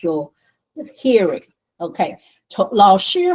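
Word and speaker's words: 老师: Okay, 老师好. You see, 老 is second tone, 师 is first tone. 老师好.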